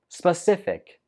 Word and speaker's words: specific: dessert 15 is specific specific the stress goes on the second syllable Spa stiff thick specific